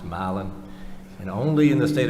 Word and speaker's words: Milan: is pronounced Halston Miland is brother Milan is pronounced malan and only in the state of Georgia could